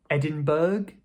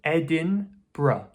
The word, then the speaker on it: Edinburgh: Some people might say Edinburg, some people might say Edinburgh. As far as I can tell, there are two common ways to pronounce the city. One is Edinburgh, Edinburgh. But commonly in speech, people will just say Edinburgh, Edinburgh. So "ed-in-bra". Edinburgh. Did you know that one before?